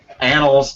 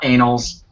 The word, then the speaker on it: annals: thing because excuse me annals not anals annual you have to